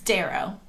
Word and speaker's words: Darrough: your last name it's darrow oh that's easy to pronounce with the d but how do you spell it that's the tricky yeah there is silent letters there's d-a-r-r-o-u-g-h that's why